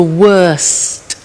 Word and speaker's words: worst: the superlative is the worst notice the tea bad worse the worst don't forget to pronounce the T I mean far the